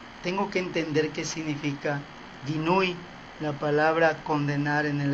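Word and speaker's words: guinuy: Para poder entender esto, tengo que entender qué significa ginui. La palabra condenar en el hebreo es ginui, que se escribe G-U-I-N-U-Y, ginui, así como se lee.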